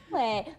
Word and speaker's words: Fourplay: Fourplay. But it's spelled like F-O-U-R, like four.